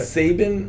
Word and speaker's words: Saban: Saban Right. rhymes with Laban.